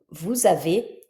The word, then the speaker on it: vous avez: on a, nous avons, vous avez, il ou elles ont. Donc, tu vois, nous avons, je prononce comme un z, puisque j'ai le S suivi d'une voyelle. Vous avez, le S suivi d'une voyelle.